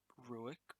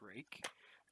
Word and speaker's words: Ruike: looking at the rake i learned how to pronounce it it's not ruik or ryuk uh it's rake uh we're looking at the rake p128sf um